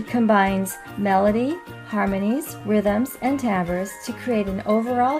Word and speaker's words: timbre: Timbre is an interesting word. It looks like the word timber, but it's pronounced timbre.